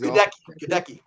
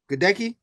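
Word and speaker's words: Goedeke: Um and also in the second round uh Luke um yeah they're not going to try to pronounce that name either. He's Gadeki. Gdki.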